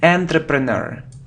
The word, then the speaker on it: entrepreneur: Look, it isn't entrepreneur.